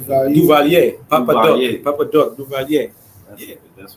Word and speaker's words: Duvalier: DVA? Duvalier.